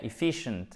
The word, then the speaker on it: efficient: Et efficient, c'est efficient. Accent tonique à chaque fois sur la deuxième voyelle. Ici, c'est effective et là, c'est bien un i court, efficient, ok?